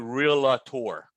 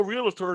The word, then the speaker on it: realtor: to be successful in this business do not pronounce it real tour you don't pronounce it jewelry it's called real poor because you'll be on the phone with somebody goes yeah i'm a realtor now what dude you can't even pronounce what